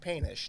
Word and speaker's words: Poetenisch: is I say it's pronounced Painish, just like it's spelled.